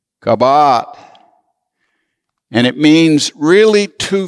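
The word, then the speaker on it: kabowd: glory in the Hebrew is kabad I'll spell it for you k a b o w d kabat and it means really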